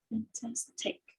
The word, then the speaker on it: fantastic: Fantastic. Fantastic. Fantastic. Okay. We don't say fantastic, we say fantastic because the stress syllable is on tas. Fantastic is the second syllable.